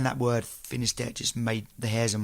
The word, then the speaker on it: Finisterre: Finisterre is good. Yeah, I mean, there's the Spanish. The Spanish have another pronunciation, but that's how we say it in English.